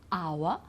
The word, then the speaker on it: hour: So for example, the first one is hour. Okay, so we don't pronounce the H.